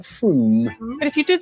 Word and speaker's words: Frome: Wrong, it's not frome. F-R-O-M-E, it should be blitheringly obvious, is pronounced froom.